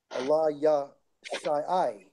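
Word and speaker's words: אֱלִישָׁע: Now, we go to Elisha in the blue letter, it's Strong's H 477, and it's pronounced as Allah, Allah Yah Shai, Allah Yah Shai.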